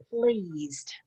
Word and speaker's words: pleased: Pleased. It's a long E sound. Pleased.